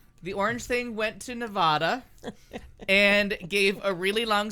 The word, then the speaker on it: Nevada: And Nevada.